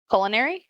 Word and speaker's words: culinary: Would the proper pronunciation is culinary Cu because Culin it's cu, so it's like a cue ball.